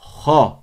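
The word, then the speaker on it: خ: Donc, Kha. répétez après moi. Kha. Kha. En gros, c'est KH. Kha. Comment on prononce cette lettre? C'est comme le R en français de certains mots.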